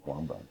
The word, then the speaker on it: Wabaunsee: Pronunciation of Wabaunsee. Wabaunsee.